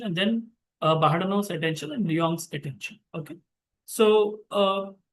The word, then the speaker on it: Luong: Now let us go to the next one, which is Luong, I can say, right? The pronunciation is like that. It's Luong.